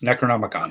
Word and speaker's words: Necronomicon: Well, we're going to give them a little taste of Necronomicon. Did I say it right? Yes, Necronomicon.